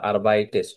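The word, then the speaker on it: arbeitest: হ্যাঁ, তো তার কারণে এখানে একটা এ যুক্ত করার কারণে দেখেন, এটা আরবাইটেস্ট উচ্চারণ করতে কোনো প্রবলেম হয় না, আরবাইটেস্ট।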